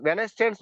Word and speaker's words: Wednesday: சார் சார் வெட்னஸ்டே வந்து வெனஸ்டேன்னு சொல்றாங்க சார். அப்படி சொல்லலாம் சார். அப்ப வென்ஸ்டேன்னு சொல்லணும். அது ஆக்சுவலா நம்ம இந்தியால வெட்னஸ்டேன்னு சொல்லுவோம். சொல்லாம வென்ஸ்டே இந்த டிஎஸ் சைலண்டா வச்சுக்கிறோம்.